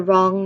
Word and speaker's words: wrong: You have the wrong number. Again, listen carefully. You have the wrong number. What word do you think has a silent letter? You have the wrong number. Okay, the word here is wrong.